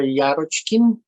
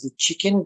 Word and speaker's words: Yarochkin: Hello, my name is Yarochkin. Some people pronounce my last name as the chicken.